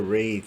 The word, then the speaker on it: wraith: for that like wraith that's spelled almost like a wrath but it's a wraith i guess so uh